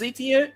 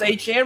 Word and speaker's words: Etienne: You know, they got Travis Etienne, or now it's Etienne. We can finally get to say it right.